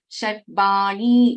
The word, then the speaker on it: Sharvani: But when we chant this, when we pronounce, this will become double. Sharvani, Sharmadayini, Kameshwara.